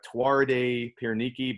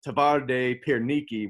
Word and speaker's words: Twarde Pierniki: pronunciation it looks like tuareg piernicki but the w's are v's so they pronounce it tavarde pierniki which translates to hard